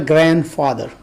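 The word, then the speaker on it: grandfather: तरह से ग्रैंड फादर ग्रैंड फादर का कल ऑफिस भी गलत किया जाता है जो बीज है इसमें साइलेंट है और इस कारण तरफ से ग्रैंड फादर अ ये सैंडविच सैंडविच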